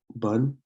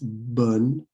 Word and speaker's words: bonne: And then you have bonne journée, bonne journée. So this isn't pronounced bone or bon. It's bonne journée, bonne journée, and it's have a good day.